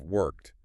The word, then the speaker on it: worked: If a native speaker says, "I worked hard at normal conversational speed," the T sound at the end of worked," just vanishes right into the H of hard.